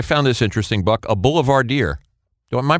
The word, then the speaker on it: boulevardier: Why do you call Richard Benjamin, I found this interesting, Buck, a boulevardier? Am I pronouncing that right?